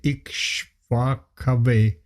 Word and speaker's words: Ikshvakave: Not kevi, kave. Ikshvakave pravit. Kave Bravit. You're struggling a bit with the A. You pronounce it as A. It's A.